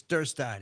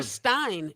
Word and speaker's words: Derstine: And how do you pronounce it? Is it Derstine? It's Derstine. It's German. Derstine.